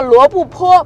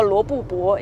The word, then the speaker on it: 罗布泊: 叫罗布泊，不叫罗布泊，因为它是一个多音字。